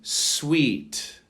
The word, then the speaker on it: suite: Number 87, sweet. Sweet, as in sweet candy as well, which is spelled differently.